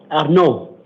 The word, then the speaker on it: Arnaud: How do you pronounce your first name? Arnaud. Then I did say it right.